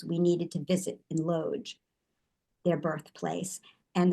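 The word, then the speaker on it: Łódź: needed to visit in Loge, their birthplace, and the city is pronounced Wuj in Polish.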